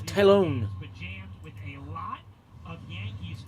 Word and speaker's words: Taillon: with jameson taion returning talon that is not tyoung that is a spanish pronunciation the name is german is tylon with a lot of